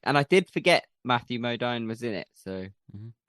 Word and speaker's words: Modine: And I did forget Matthew Modine was in it, so. Mm-hmm. Is it Modine? I've been saying that wrong. Why? What have you been saying? Modine. Well, it's Dine, isn't it? D-I-N-E. Modine.